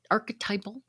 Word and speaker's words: archetypal: These are just a few, and they're the archetypal.